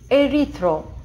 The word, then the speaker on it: erythro: И мы произносим это erythro. Почему мы произносим это erythro, спросите вы? Да потому что буква Y в закрытом слоге.